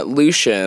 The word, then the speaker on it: Lucien: Happy Pride Month, I will say, Lucien, I go very American with my first name. Oh, Lucien. French pronunciation is, yeah.